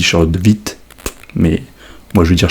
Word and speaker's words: Charlotte de Witte: Alors, Charlotte de Witt, et je le prononcerai comme je le souhaite, parce que évidemment il y a une prononciation qui est un peu plus germanophone, un peu plus belge on va dire, puisque Charlotte de Witt est belge. Alors je crois que ça se dit Charlotte de Witt, mais moi je vais